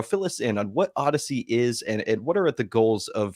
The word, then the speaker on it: Odsy: idea um the the Odyssey network is spelled um odsy we do pronounce it like the Space Odyssey or the Greek epic Pole now Odyssey but